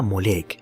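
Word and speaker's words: Moloch: malec molec y milcom en hebreo se lo pronunciaba molek evitando de este modo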